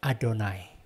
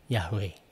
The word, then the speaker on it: Adonai: Jadi waktu ketemu tetragrammaton ini, 4 huruf yang sangat sakral ini, begitu bacanya adalah dibaca Adonai. Mereka tidak baca dengan Yahweh gitu ya. Mereka bacanya Adonai.